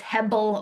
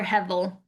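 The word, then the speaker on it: הבל: Um, Depending on how you want to pronounce Hebrew, it's Hebel or Hevel. Hevel is probably the more common pronunciation, Hevel.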